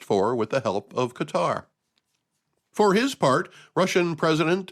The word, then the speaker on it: Qatar: a deal brokered by Qatar and yes that's how I'm going to say it I always hear the talking heads on the news pronounce it cutter they put the accent on the wrong syllable if you ask me